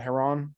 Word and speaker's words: Heron: Brian Adams for Todd Rundgren, Tom Morello for Gil Scott Heron, excuse me. I always want to say Heron, but it's Heron.